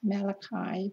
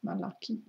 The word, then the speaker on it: Malachi: I didn't know, some Christians pronounce it as Malachi, but in Hebrew it's Malachi. Malachi.